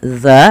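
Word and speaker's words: ذ: yang ada huruf dalal Bagaimana cara pelafalan dalal dalal itu ujung lidah kita ujung lidah menempel dengan Gigi Sari atas kita maka dza bukan Za gitu ya kemudian sahirun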